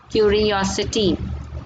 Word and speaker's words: curiosity: See the way I am pronouncing sincere, sincerity, possible, possibility, valid, curious, curiosity. See the pronunciation different, curiosity, simple, simplicity.